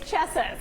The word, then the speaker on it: Chessa: we're checking out sh shaa beastro is that how you say it Jackie who's there right now is it shaa nope d it's Chessa it's chess so Chessa started